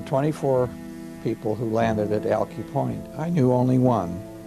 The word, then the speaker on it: Alki: after crossing the plains Brewster Denny calls it alkie Brewster Danny's pronunciation was the correct one this is based out